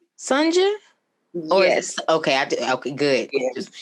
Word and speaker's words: Sunja: so now i have to backtrack is it pronounced sanja oh yes okay okay good i should have